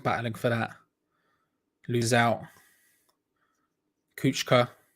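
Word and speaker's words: Kucka: for that lose out kuchka here's how you pronounce it not cooker as i would say he's trying to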